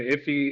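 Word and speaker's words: IIFE: it's a made-up concept immediately invoked function pronounced if he is a JavaScript design pattern often used to minimize naming conflict and create private variables so the conventional format for an iffy is to is to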